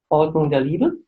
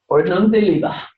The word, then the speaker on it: Ordnung der Liebe: I know how to say this in German, but you can pronounce it better than I can. Katharina? Ordnung der Liebe. Ordnung der Liebe.